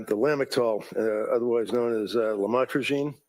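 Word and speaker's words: lamotrigine: lamel otherwise known as lamatroine. Did I pronounce that right? Lamotraine. Yes.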